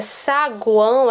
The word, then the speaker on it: saguão: Já na palavra saguão, a gente pronuncia o U, guão.